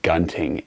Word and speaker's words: Gunting: I'm not quite sure how the two pronounce it, but it's basically like hunting, but without the H, and you put a G in there. So this is the Gunting, and this is originally designed to be a fighting knife.